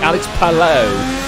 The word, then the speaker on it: Palou: Or is it Alex Palou? Oh, I don't know how you pronounce it. Well, it is correct. It is correct, but you can technically call it either one.